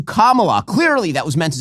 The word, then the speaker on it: Kamala: No, the wrong syllable. Oh my God, she called her Kamala as opposed to Kamala.